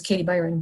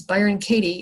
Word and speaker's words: Byron Katie: I always want to say her name is Katie Byron, but her name is Byron Katie, and she wrote a